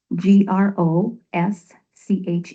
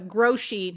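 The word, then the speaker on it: Grosche: It's Grosch g r o s c h e. Okay. And you pronounce that I I was thinking I was pronouncing it wrong. It is uh Grosch not Grosch.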